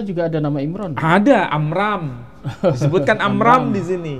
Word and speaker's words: Amram: ada nama Imran ada amram disebutkan amram di sini Iya bukan Imran Tapi amram pelafalan Ada kemiripan Abraham Ibrahim Abraham Ibrahim